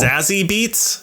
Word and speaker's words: Zazie Beetz: Zazie Beetz? Is that how you pronounce her name?